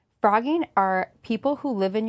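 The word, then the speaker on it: phrogging: do with actual frogs it's spelled p h r o g g i n g frogging are people who live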